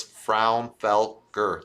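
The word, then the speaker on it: Fraunfelker: just call me my last name is real simple it's frown felker three syllables so but that's okay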